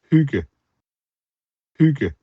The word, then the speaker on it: hygge: And we felt it appropriate to start this episode off with an authentic pronunciation uh which will probably sound a little different than my pronunciation or uh our other guest pronunciation.